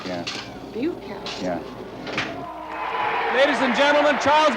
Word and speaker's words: Bukowski: Bukowski. B-U? Buke to rhyme with puke, yeah. Bukowski.